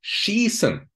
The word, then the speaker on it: schießen: So please remember, IE is a long E, like in the word schießen, which means to shoot, also, for example, in football.